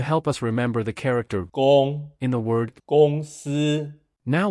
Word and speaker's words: 公: The pronunciation of the character "公" is similar to the English word "gone".